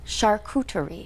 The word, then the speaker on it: charcuterie: Yeah, should we go over the pronunciation of charcuterie boards? Charcuterie.